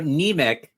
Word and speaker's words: Niemiec: So Niemiec, like anemia.